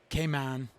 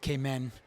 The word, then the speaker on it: Cayman: we're in the Cayman Island kman I think before getting here I would have called it kmen yeah even though it's